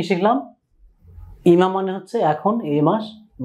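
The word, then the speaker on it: 今: এই কাঞ্জির বাংলা উচ্চারণ হচ্ছে ইমা। ইমা মানে এখন, এই, এই মাস, আজ।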